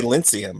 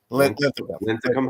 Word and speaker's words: Linthicum: I want to say Lyncium, but it's Linthicum. Lyncium Heights.